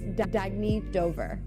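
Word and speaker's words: Dagne Dover: Oh, it's pronounced Dagny Dover. Dagny means new dawn.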